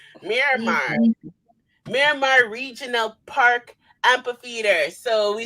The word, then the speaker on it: Miramar: Miramar. It's in Miramar, Florida. Yeah. Miramar. Okay, so it's like Omar. Miramar, Simon. Miramar Regional Park Amphitheater.